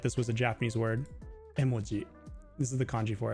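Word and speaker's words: 絵文字: But so in Japanese, if you're saying the word emoji, it's not emoji. It's not emoji like we say in English. It's emoji. Emoji. It's like they're all even.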